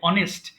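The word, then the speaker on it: honest: না এটা অ বলে অনেস্ট দেখো এখানে এইচ এর কোন উচ্চারণ নেই এই অ এর কারণে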